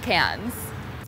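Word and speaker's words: Cannes: just like obsessed with cans so turns out the s is silent so my sponsor won't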